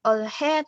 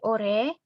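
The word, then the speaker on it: 올해: Kemudian ada ure, bukan olhe tapi ore, hanya samar dan ini dibaca r.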